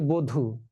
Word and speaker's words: বধু: যেমন এই যে বধু তাহলে বধ দীর্ঘকারে ধু। এখন এই যে দীর্ঘকারটা আছে দীর্ঘকারটা রসকার হয়ে গেল। বধু আর ব অ সেটা ও হয়ে যায়।